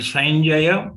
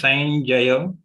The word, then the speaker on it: Sanjaya: are short researching and sanjaya means there is a joint letter of yeah so we have to ensure we pronounce it as sanjaya not sanjay so that difference i